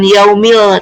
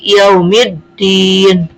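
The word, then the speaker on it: يوم الدين: Makanya dibacanya eee dileburkan. Yaumiddin. Bukan yaumil, tapi yaumiddin.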